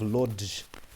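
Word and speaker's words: Łódź: in the streets of Lodge or is that WJ? I think it's pronounced WJ because in Polish like this cross air makes a W. It makes a W sound.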